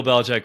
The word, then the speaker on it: Belichick: And so who's KC, Bill Belichick? KC. The reason it sparked it in our minds earlier is because you mentioned that you saw the Patriots in Detroit. Uh-huh. So Bill Belichick was like the legendary, even I knew his